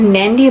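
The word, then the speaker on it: Nadi: to the main area of fij which is nandy which is spelled as n a DI I with a silent n i mean with a it's pronounced nandy but it's spelled without the end in the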